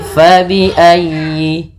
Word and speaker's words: فبأي: Fa, hati-hati jangan dibaca dengan pa. Kemudian dalam ayyi ditekan huruf ya-nya karena dia tasdid, dan huruf ya termasuk huruf lin yang lembut, di dalam pelafalannya jangan dihentakkan. Tapi fa bi ayyi, fa bi ayyi a, fa bi ayyi alai.